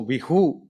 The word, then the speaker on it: बिहू: इसी तरह आसाम में इसको रंगोली बिहू, आसाम में सा को हा उच्चारण किया जाता है, जैसे आसाम को अहोम, हा तो नहीं, थोड़ा हाफ हा, तो विशु को बिहू ऐसे बोला जाता है।